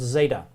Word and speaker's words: Zeta: a little bit different called Zeta and it's it's pronounced like a DZ sound a DZ sound or z sound depending but the letter is